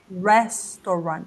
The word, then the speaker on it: restaurant: isso aqui Restaurant Restaurant esse U gente não pode ser uma sílaba aqui tá eu tô colocando para vocês lembrarem que é Restaurant Restaurant rest restaur tá ok